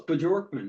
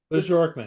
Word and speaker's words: Bjorkman: Bjorkman. Yeah, it was close. Bjorkman. Yep. Bjorkman. Sort of like it's spelled.